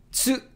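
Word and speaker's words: つ: she has only two TSU is pronounced like two in Tsunami Tsunami is how we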